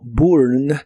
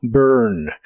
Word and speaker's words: burn: de inglés es burn se pronuncia casi como se escribe pero con tu lengua traída hacia atrás Y en lugar de sonar como burn suena como burn como monstruo burn burn